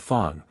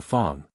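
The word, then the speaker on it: Fang: in the African dialects the sound of the letter a is like that in the word father the whole Fong tribe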